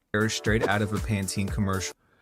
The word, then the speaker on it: Pantene: Yeah, it said Panten. That's how you say it. Not Pantene.